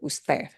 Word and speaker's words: usted: You have to say the whole word usted, usted. And notice that D at the end sounds like a TH, usted, usted.